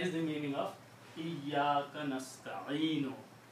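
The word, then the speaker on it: نستعين: Okay, so that is the meaning of Iyyaka nasta'inu. If you stop, you will not pronounce this wa, noon, dhamma on the noon. You will say nasta'in. Iyyaka na'budu wa iyyaka nasta'in.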